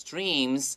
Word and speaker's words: dreams: 好，所以第三段这个地方我们看到这句话，好，蛮长的，对不对？他说 When Sean finally had enough money，好，最后终于存够钱了。And bought the motorcycle of his dreams.